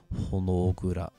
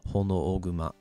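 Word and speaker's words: Honooguma: So like Honogura. Or sorry, I mispronounced that. Hono Oguma.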